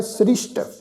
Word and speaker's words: सृष्ट: सृष्ट उपाय, सृष्ट सस्से दे पैर च बिंदी लगा के जिहड़ा विचकार वाला सस्सा बना जी उहदे पैर विच बिंदी लगा के पाठ उच्चारण करना है सृष्ट।